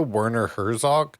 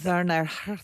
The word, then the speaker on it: Werner Herzog: And he is that the Werner Herzog documentary?